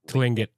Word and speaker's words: Tlingit: I think first T's silent, so Tlingit.